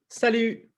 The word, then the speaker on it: salut: And then, salut. Salut. And again, if you bring your lips forward on that, you'll get that good ich sound, right?